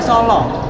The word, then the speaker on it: Solo: Desa Solo Oh Desa Iya tulisannya aslinya s a l a bacanya solo bukan O salah Tapi bacanya Solo Jadi bukan s o